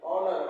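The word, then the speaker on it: honor: पढ़ेंगे नर पढ़ा जाएगा नहीं नर एच साइलेंट है एच का उचार नहीं करना ऑनर ऑनर मींस इज्जत या सम्मान ऑनेस्ट एच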